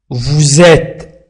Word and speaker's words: vous êtes: Vous êtes resté, vous êtes S بين U و E. لذلك وضعنا لليزون وقلنا ونطقناه على شكل Z.